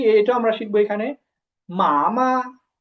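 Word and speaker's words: 妈妈: এই উচ্চারণটা কি হবে, প্রথমে আছে ফার্স্ট টোন, পরে এই যে পরের মায়ের উপরে কোনো টোন নাই, তো এটা হচ্ছে নিউট্রাল টোন। এটা উচ্চারণ হবে কেমন, যে একেবারে নর্মাল, মা, মা। প্রথমে হবে মা, তারপর হবে মা, মামা, মামা।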